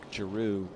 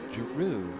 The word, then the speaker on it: Giroux: I was calling Mark Giroux because it's kind of spelled like Giroux, and he came up to me one day and he says, Giroux, like kangaroo.